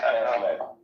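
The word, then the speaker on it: Cast Lead: Right, it's Casled. Okay, Casled.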